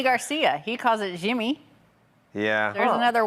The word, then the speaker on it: Yimmy: But I think but look at like Yimmy Garcia. He calls it Jimmy.